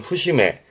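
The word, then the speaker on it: 節目: 그리고 뒤에다가 눈목 잡붙이면 발음은 후심해.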